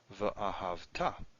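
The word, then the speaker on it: וְאָהַבְתָּ: Normally this is ahavta, stress is here. But the way you pronounce this, the way the Masoretes are telling us, is that this should be pronounced v'ahavta.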